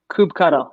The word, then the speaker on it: kubectl: Download the, how do you pronounce that? Cubicle? Kubectl. I mean, that's how I do it. I think there's probably like a whole internet debate that could happen with this.